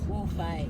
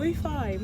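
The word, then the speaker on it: Wofai: Pronounce it. Wofi. Oh, Wofi.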